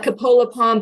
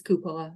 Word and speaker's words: Cupola Pond: Coppola Pond or whatnot I call it Coppola Palm but I think the right way to say is cupola yeah so it what